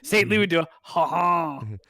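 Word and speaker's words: Saint-Louis-du-Ha! Ha!: But you have to say it like a Quebec person. St. Louis do a ha ha.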